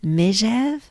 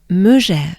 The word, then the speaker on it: Megève: Now, some of the locals like to pronounce it Megève, but I'm gonna take this, well, why don't we do both? So, first would be Megève, so it would be E, Megève, good breath, Megève.